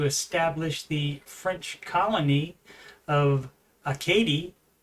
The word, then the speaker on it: Acadie: the French colony of Acadie. Apparently that's how you pronounce it, and not Arcadia, as I think it was said on the show incorrectly. As you can see, it's